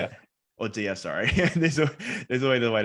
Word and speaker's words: Audea: Audio, sorry.